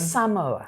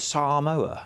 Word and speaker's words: Samoa: Samoa for me again Samoa right so we were told weren't we what what were we told yesterday the briefing pronounce it Samoa s say I would say emphasis you right yeah so because that's